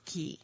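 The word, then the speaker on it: Caye: We were Ambergris Key. Oh, okay. Yes. And, sorry. And Key is spelled C-A-Y-E.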